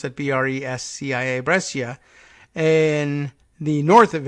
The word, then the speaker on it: Brescia: hospital in Brescia is that how they would pronounce that bre s CI a Brescia in the north of Italy needed supplies